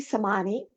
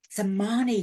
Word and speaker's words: Semanie: it I was sure yes it's actually Sani Sani thank you I usually check that with everybody